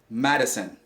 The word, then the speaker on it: medicine: The I is not pronounced like medicine. Medicine. And the correct pronunciation is medicine, medicine, medicine.